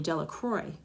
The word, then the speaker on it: Delacroix: and Harry Jones and Dicky delaqua the villagers pronounce his name delacroix eventually made a great